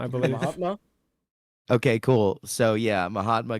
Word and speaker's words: Mahatma: So this is don't want to pronounce his name wrong. Gandhi. How do you say his first name? Mahatma, I believe. Mahatma?